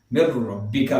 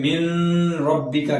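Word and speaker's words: مِن رَّبِّكَ: अब मीम के बाद नून है, मिन और रब्बी, मिर रब्बिका पढ़ेंगे इसको, यानी नून की आवाज साइलेंट कर दी जाएगी, मिर रब्बिका पढ़ेंगे, इसमें मिन रब्बिका करके नहीं पढ़ेंगे।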